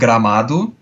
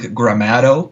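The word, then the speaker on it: Gramado: uh let me see i'm gonna first say it in portuguese the town is called gramadu you guys would probably pronounce like gramato or something like that uh uh and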